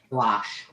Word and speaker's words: gouache: this has got the 2 pens, a paintbrush, ink, and how do you pronounce that? Gouache? Gouache. Gouache? Wash.